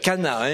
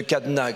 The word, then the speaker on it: Cana: les no de Cana c'est Cana il faut bien prononcer Cana c'est pas c'est pas les No de cadna quand tout marche plus